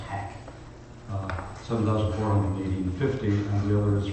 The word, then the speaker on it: Hach: One is doing shipping hand, and all the rest is from HACH, I think it's called, pronounced hack.